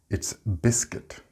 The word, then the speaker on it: biscuit: This is like fruit. We do not pronounce the U and I separately. It's not biscuit. It's biscuit, galleta.